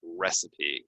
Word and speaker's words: recipe: I have the recipe recipe okay recipe is how we pronounce this um can I get